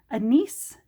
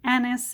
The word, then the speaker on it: anise: I'm going to look it up and see if anybody says anise. And I found out that apparently anise is the British English pronunciation and anise is the American English pronunciation.